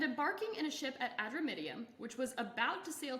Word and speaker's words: Adramyttium: And it's Adramyttium. Oh, Adramyttium.